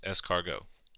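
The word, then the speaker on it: escargot: Canard rabbit pronounced and snails pronounced escargo as far as dress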